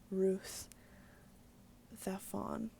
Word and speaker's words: Ruiz Zafón: The Spanish pronounce the Z like a TH. So it's Carlos Ruiz Zafón, which that's funny because they have a lisp.